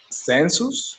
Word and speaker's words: census: Census. The U is a little bit more open. Census. It's like it's an A, not a U.